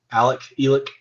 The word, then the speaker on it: Alex: Murdoch, Elick. Yeah, but it's spelled Alex.